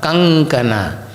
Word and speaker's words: kankana: So in that case, the Anusvara will take the nasal of that kavarga, that is nga, kankana.